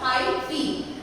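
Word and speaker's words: hyphae: कैसे प्रोनाउंस करोगे इसको, हाइफी।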